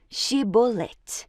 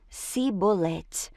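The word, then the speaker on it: Chibolete: Se o homem negasse, eles o mandavam dizer Shibolete. Se ele era de Efraim, dizia Sibolete, pois o povo de Efraim não conseguia pronunciar essa palavra corretamente.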